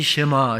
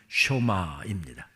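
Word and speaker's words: שמע: 쇼마이 시루엘 이스라엘아 들으라 우리가 흔히 쉐마 새마 합니다만 정확한 히브리어 발음은 쇼마입니다 들으라고 하는 뜻입니다 조금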